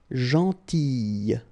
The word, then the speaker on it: gentille: Alright, same thing here, gentille. Okay, so remember to pronounce this I, gentille.